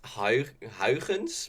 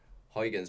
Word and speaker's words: Huygens: How, okay, it's supposed to pronounce Huygens, but when you're talking English, it's I, so Huygens because I, it was a Dutch I astronomer, and mm.